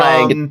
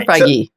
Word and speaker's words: Feige: Is it Feige or Feige? Feige. I believe it's Feige. I believe you say the E on I'm pronouncing the E. Feige. I'm giving him credit for the E.